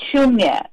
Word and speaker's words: Shoonya: Yeah, it's called Shoonya. It's spelled as SHOONYA, and it's Shoonya Kids.